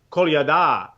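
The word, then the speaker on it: Kolyada: so I always say call yada well you are saying it correctly but if you put the stress on the last syllable you'll pronounce it right call you da right called your dad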